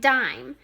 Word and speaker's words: dime: So first I want you to write dime. D, d, d. I, and remember, it's a silent E word. So that E is at the end and it tricks us.